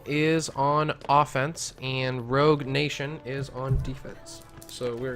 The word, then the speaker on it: nAtion: my apologies rogue nation emphasis on the a I do believe is still pronounced nation so that's going to